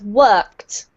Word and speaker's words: worked: We pronounce it as if it has a T ending, right? So it's worked. Worked.